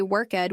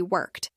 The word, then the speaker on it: worked: Sometimes he'd say worked with 2 syllables when it should just be worked.